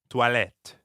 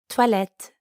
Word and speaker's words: toilettes: There's an S at the end of the word for bathrooms, even though you don't pronounce it. Toilette. Toilette.